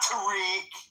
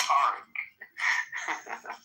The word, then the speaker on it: Tarek: For those that don't know how to pronounce, it's pronounced Tarek. Perfect. Not Tariq. But he's too polite. It's Tarek.